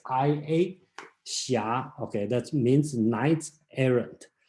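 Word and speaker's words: xia: s i h something like that is the pronounce the correct spelling in today should be x i a shia okay that means knight's errand so there's a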